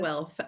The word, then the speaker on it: Guelph: I don't know if that's how you pronounce it. Guelph, yes.